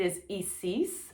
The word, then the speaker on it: Isis: And that is because the I is pronounced as an E. Her name is Isis.